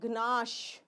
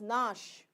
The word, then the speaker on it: gnash: It is not gnash. It is nash.